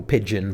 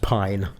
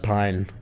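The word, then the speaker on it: Pijn: Uh, with main support was a band who I call pigeon, but it's actually pronounced pine.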